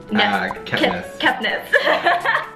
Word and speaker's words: Kepnes: Kepnes? I've never actually had to say your last name out loud. You just really butchered that. Kepnes.